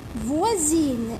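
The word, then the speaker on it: voisine: ينطق حرف الاس ز، حرف الاس راح ننطقوه ز. يا اخي انتما تقولوا لي هذه سا، كيفاش اكيد رجعتيها، كيفاش رجعتيها ز؟ اس تولي ز. اذا كان بجانبيه دو فويال، يعني اذا كان قدامه دو فويال يمينه ويساره. نعطيكم مثال باش تفهموا، نكتب لكم في كراس احسن باش تفهموا. اعطيت لكم مثال فوازين اللي هي الجاره، فوازين هكا، فوازين صح.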